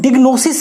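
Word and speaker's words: diagnosis: डायग्नोसिस या फिर इसे अगर कहें तो डिग्नोसिस पढ़े तो ज़्यादा बेहतर है। ऐसे डायग्नोसिस भी सही है लेकिन डिग्नोसिस बेहतर प्रोनाउंसिएशन है।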